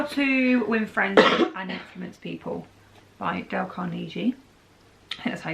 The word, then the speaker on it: Carnegie: stuff is how to win friends people by Del Carnegie and that's how to say the name yeah